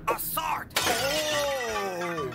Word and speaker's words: Assart: Excuse me, Agent Assart? It's pronounced Assart.